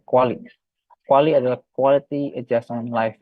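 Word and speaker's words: QALY: Nah, ukurannya biasanya CUA ini yang dilihat adalah quali, quali ya, bukan kali ini bacanya, tapi quali.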